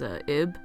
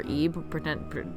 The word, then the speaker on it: Ib: My favorite pixel horror game of all time is Ib, or Ebe, depending on how you pronounce it, and it's about a girl in like a haunted art museum.